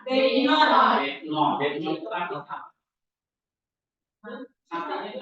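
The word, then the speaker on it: βῆμα: Berarti B ya kan? Ini eta. Berarti E panjang ya kan? Terus M. Terus A. Ya, namanya Bema. Oke, sekarang ini baca ini.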